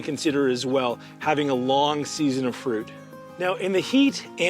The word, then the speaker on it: Lang: And then we have our long Jujube. Long. I know it's L-A-N-G, but a whole other story on the pronunciation.